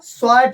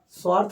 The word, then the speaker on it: स्वार्ट: पहली अभिक्रिया बेटा स्वार्ट अभिक्रिया, कौन सी अभिक्रिया, स्वार्ट। सर स्वार्ट, ओ वाह क्या नाम है, स्वार्थ नहीं बेटा, स्वार्ट, स्वार्ट अभिक्रिया।